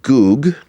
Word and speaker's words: Gug: And then when you do something called a reduplication, you double it, Ug, it actually comes out Gug, which in the Bible is Gog, right?